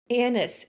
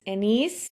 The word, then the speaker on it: anise: What even is anise, anise, aniseed? You can get into some really dangerous territory when you try to pronounce anise, but that's technically how you say it, or at least one of the technical ways you say it.